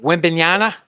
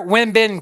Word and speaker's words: Wembanyama: Wembanyama. Come on, you're gonna have to say it, my nun guy. All right. So he signed a huge deal this week. Say the name. Victor Wembanyama.